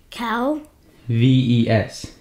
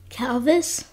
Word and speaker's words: calves: Cal. V-E-S. This. Now put the two together. Calvis. C-A-L-V-E-S. Calvis. What word is spelled C-A-L-V-E-S? Calvis. C-A-L. Calvis. Calves, you idiot. Calves.